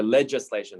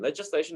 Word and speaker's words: legislation: legislation so it's ledger pronounced like a j not like lega g right so legislation legislation essentially just means like